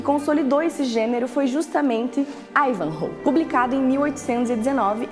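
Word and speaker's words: Ivanhoe: Deixa eu te explicar essa é a pronúncia original de acordo com a fonética da língua inglesa e é a fonética que o clube optou por usar tanto que não tem aqui o acento agudo mas aqui no Brasil quando o livro foi traduzido pela primeira vez acabou se popularizando a pronúncia aportuguesada que seria ivanhoé mas independentemente do como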